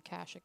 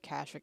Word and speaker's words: Kashyyyk: The lack of fast travel opportunities on Kashyyyk is really annoying. Yes? You'll also notice that I alternate between calling it Kashyyyk and Kashyyyk. It is pronounced both ways, I do believe.